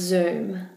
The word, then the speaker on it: zoom: Z, but that's pronounced Zoom. Zoom. Zoom. Yeah, so it's like Z at the sounds like, you know, like when you hear flies and bees and they like buzz around, it's like Z sound.